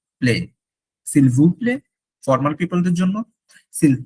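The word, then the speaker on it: s'il vous plaît: Seal ভু প্লে, seal ভু প্লে, নট প্লেট, যদিও টি আছে, টি নাই, বলার সময় নাই।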